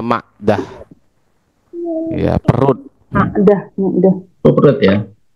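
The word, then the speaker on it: معدة: Jadi bacanya Ma'idah. Ada yang bacanya Ma'dah.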